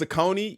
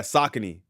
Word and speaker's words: Saucony: those a lot man thought they were uh pronounced saone yeah man that's that's that's something that we've